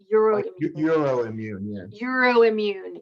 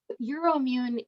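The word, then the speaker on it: EUROIMMUN: and your immune is probably how do you spell that e u r o i m m u n euro immune yeah sorry i hope you can hear me euro immune um is commercially available it's a rapid um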